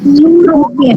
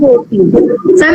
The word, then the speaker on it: European: We do not say European. It is European. In this E is silent.